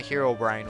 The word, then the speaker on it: Herobrine: or if you're um little kids that don't know how to pronounce it they say Herobrin not just little kids I've heard other people say it like that um sorry that's not a it's not how English works if we're going based